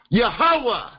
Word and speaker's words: Yahuwah: from these four letters pronouncing the four letters yo hey wha hey pronouncing them with the Hebraic ancient sound of off behind the wine yeah behind the h-huh behind the w-what yahuwah that's name that's the